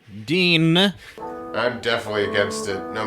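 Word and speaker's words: Dyne: The only one against this is Dine. For clarity, Dine is a guy. Yeah, and he's the only guy who thinks this is a bad idea. Right, it's spelled D-Y-N-E. Dean.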